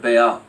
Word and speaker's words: Baal: Adults would gather around the altar of Baal, or Baal, however you want to pronounce it.